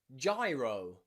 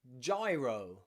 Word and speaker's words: gyro: G plus Y follows the same rule, which means normally it's pronounced J. Often J, okay, like in gyro, gyro, gyro, okay?